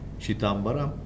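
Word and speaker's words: Chithambaram: How do you pronounce this? Shitambaram? Correct.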